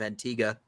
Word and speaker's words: Antigua: Antigua. I was like, what? Yeah, it's supposed to, I guess it's the locals pronounce it Antigua.